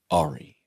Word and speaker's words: Ari: it's I I think the pronunciation here is um Ari and we were doing kill Ari. Yeah. And Mark would be like, "When is Ary getting back here?"